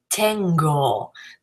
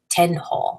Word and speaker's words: tengo: Tengo, that's a g, that's a hard G as opposed to tenjo or tenjo.